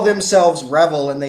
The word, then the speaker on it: REvil: these people call themselves rebel which is spelled r-e-v-i-l it's like devil but with an r they call themselves revel and they say this